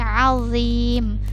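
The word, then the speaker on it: عظيم: Nah, di sini huruf dha di sini dia tidak boleh ada desisnya, atau tidak, jangan dibacanya seperti huruf zai, azim, bukan seperti itu. Itu berarti huruf zai yang dibaca, tapi ini azim, azim, tidak ada desisnya, tidak ada z-nya ya, azim.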